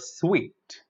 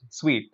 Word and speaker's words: suite: I will say I have booked a suite in a 5-star hotel. Okay, so be careful about using this word. It is just sweet. You simply pronounce the word sweet. So sweet, sweet, not suit. It's sweet.